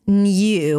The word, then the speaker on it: new: The word new, you can pronounce it as new with a y sound, new.